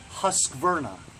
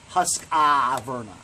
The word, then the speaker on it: Husqvarna: there so it's nice don't sound like an idiot it's husk burner not husk ah burning husk Vernon that's it